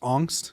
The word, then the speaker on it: Angst: why we picked uh technically it's pronounced angst it's the german word but yeah i i